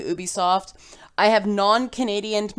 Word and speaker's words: Ubisoft: apologize they are right they also say the company's pronounced Ubisoft not Ubisoft I am NOT going to be able to get away from saying ooh be soft I have non Canadian